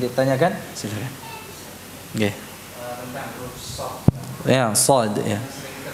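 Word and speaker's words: ص: Padahal kalau shad itu diucapkan dengan mecucu bibirnya.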